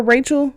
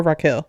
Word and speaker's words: Raquel: Her name is spelled Raquel. Some people call her Rachel, some people call her Raquel. I think it's Raquel, but I just want to